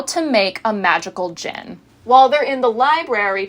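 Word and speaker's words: djinn: turns out it is not a magical gin like glug glug like gin it's a magical gin d-j-i-n-n as in Genie because Margo is the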